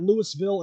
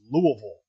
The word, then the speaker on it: Louisville: at the lock on the 23rd it'll be Louisville Kentucky and that's how you pronounce it otherwise Jim cornette will kick your ass it's not Lewisville it's not Louisville it's Louisville Kentucky at the wwme music hall and then